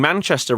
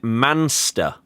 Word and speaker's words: Manchester: The American commentator keeps saying Manchester wrong. He keeps saying monster. How how do you even get the job if you can't pronounce that?